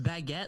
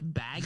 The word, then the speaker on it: baguette: guy at my restaurant pronounced baguette like bag you just said